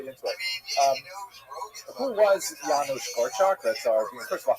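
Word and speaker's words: Janusz Korczak: Um who was Yanu Korak? That's our first of all, how do you pronounce his name? I hope I'm going to get it right. My Polish is not so good. Yanush Korch.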